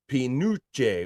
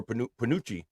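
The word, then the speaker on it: penuche: Panouche is pronounced Pinucci or Panucci.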